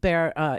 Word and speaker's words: Bexar: He is the sheriff of Bexar, Texas, which is San Antonio. Bexar is a county. It's spelled with an X, but the X is silent. Okay. Anyway, so Bexar County Sheriff Javier Salazar